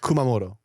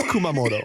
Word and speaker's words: Kumamoto: It's Kumamoto. No, it's not. Koutamoto. There was 100% a um a T in there. Kumamoto does have a T in it in the in the beginning.